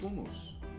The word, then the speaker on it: hummus: Hummus. You might what? Hummus. What's a hummus? Is it a car? A toy car? No. Electric? That's hummus. Oh, hummus. It's pronounced hummus.